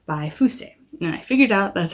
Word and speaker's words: Fuse: got reincarnated by a slime vol 2 by fusee and i figured out that's how you pronounce his name this is a series about